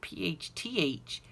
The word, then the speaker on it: phthalo: It is spelled Phthalo, but it's just pronounced phthalo.